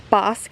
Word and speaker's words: bosque: So I called this a bosque before, but actually it's pronounced bosque, and it's a riverside forest.